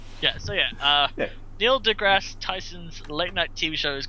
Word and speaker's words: Neil deGrasse Tyson: Yes, it's, and I couldn't care if you got anyone else's name wrong, but it's Neil deGrasse Tyson.